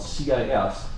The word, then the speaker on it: cis: And this isomer is called a cis isomer, and that's spelled C-I-S, cis. They're on the same side, like sisters.